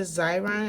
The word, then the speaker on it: Xyron: can actually use the xyron and I hope I'm saying it right I know that X is like pronounced like a Z and then you can